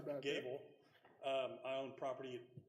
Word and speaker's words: Goble: mayor and councel uh my name is Gable spelled goe b but pronounced Gable um I own property